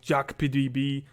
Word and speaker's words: YAGPDB: names and of course pronouncing y a g p d b dot x i z is quite a task if you want to talk about the bolt otherwise we usually go like jack pdb or any name like